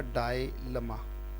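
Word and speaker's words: dilemma: अगला वर्ड है डायलमा, ये वर्ड तो आप जानते हो, खैर उच्चारण है इसका डायलमा, डायलमा, दुविधा, हिंदी में क्या बोलेंगे इसको, दुविधा, राइट, दुविधा, दैट इज कॉल्ड डायलमा।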